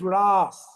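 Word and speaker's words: rāsa: So in Sanskrit language there is a short a and a long a. So the word russa has a short a but when krishna does inela it is raas.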